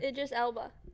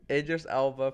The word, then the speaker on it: Idris Elba: Why do we say his name wrong? How do you say it? Idris Elba. Idris Elba playing Knuckles.